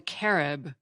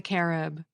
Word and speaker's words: Carib: that there was a hostile tribe called the Carib who inhabited other Islands nearby and Columbus wrote back to Spain recounting his experiences with both the arrowok and the carob now carob was not what the members of